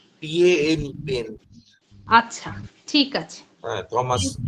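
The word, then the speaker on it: Paine: বানানটা থমাসের পরে ওনার সারনেমের বানানটা? PAN, পেন।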